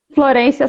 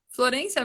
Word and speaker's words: Florencia: Ah, Florência. Florência mesmo?